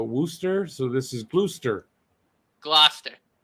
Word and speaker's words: Gloucester: one was uh worcester so this is bluester gloucester gloucester gloucester year didn't do too bad i've done